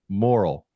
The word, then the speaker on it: Morrill: stuff so I think I remember how to pronounce this thing I'm not gonna mess it up watch me go welcome Dr moral you nailed it no I got it the